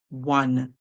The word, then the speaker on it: one: So we hear W, A, and then we hear the N sound. So we hear W on one.